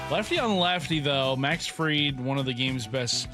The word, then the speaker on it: Fried: Max Fried, he's getting Max Fried. Because Fried That's how is it's spelled like fried, so you think it would be fried.